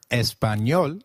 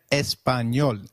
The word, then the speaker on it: Español: The letter A is pronounced as A, as in father. Did you notice the letter ñ in Español? This letter is peculiar to Spanish. It is pronounced as ni, like in canyon.